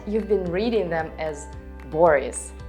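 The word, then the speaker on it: Борис: Because in all of them, O is not stressed. And what does it mean? Right, you read it as A. Boris, Oleg, Igor.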